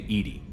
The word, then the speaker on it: EDI: Why are you named Edy? EDI is the phonetic pronunciation of EDI.